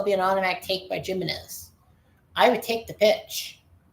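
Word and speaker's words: Jiménez: It's pronounced Jimenez, H-I-M.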